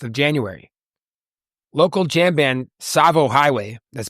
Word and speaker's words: Tsavo: Local jam band Savo Highway, that's spelled T-S-A-V-O, has their album release party for their new album Circles.